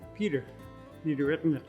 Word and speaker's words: Peter Rettenach: My name is Peter, with this Inuit way of pronouncing Peter Rettenach.